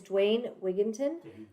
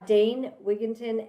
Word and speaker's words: Dane Wigington: an epic guest and his name is Dwayne wigon dway Dwayne Dane danne danne okay I said it wrong uh danne wigon and he is the